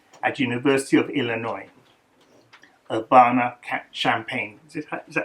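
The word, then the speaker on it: Champaign: Obana Champagne. Is it is that how you say it? Champagne.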